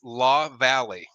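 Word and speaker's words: LaValley: to surprise you Tom it's actually pronounced law Valley um so like this the valley and the hills so that's that's what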